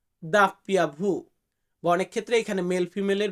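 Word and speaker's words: doppia vu: যেটাকে আমরা বলি ডব্লিউ ডব্লিউ এটাকে আমরা বলবো দাপ্পিয়া ভু দাপ্পিয়া ভু অনেক ক্ষেত্রে এখানে মেল ফিমেলের ব্যাপার আছে তো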